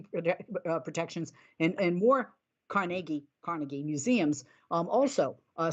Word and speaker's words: Carnegie: and I've been saying Carnegie Carnegie Hall my whole life and I always hear now I'm radio and TV car Cari and I'm like I guess I've been saying it wrong but workers at the